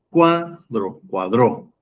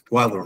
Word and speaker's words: cuadro: Cuadró. No es cuadro. No es cuadró. cuadro.